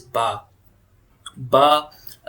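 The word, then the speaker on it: باء: Or now this is ba. Ba makhraj is lips pressed together and released.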